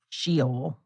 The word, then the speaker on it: Sheol: Sheol. That's how it's pronounced.